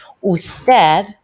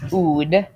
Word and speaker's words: usted: Usted, also abbreviated to this, not pronounced oud, but pronounced usted.